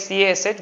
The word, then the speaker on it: cache: And then we have a temporary memory which stores all the recently accessed places, which is called the cache memory. Pronounced like CASH, but it's called cache memory for all recently accessed main memory locations.